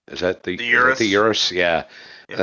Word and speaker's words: Urus: Is that the Urus? Yeah. And then you got the Porsche. That's actually pronounced Urus.